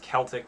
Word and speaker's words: Celtic: you say it it's it's pronounced celtic when you're talking about the celts the uh the tribe